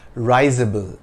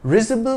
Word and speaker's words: risible: word is not pronounced risable and it has nothing to do with Rising the RIS in risible rhymes with whiz risible means laughable something that